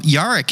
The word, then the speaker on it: Jarek: it right you got it jarek now yaric in my head the way i wrote it